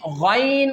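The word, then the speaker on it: غين: Now comes to the third pair which is Ghain Khaa. This pair is pronounced from that part which is towards your mouth. How can we pronounce this pair? Ghain Khaa. Ghain Khaa. Okay?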